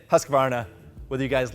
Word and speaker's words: Husqvarna: There's not enough syllables. I'm saying Husqvarna, whether you guys like it or not.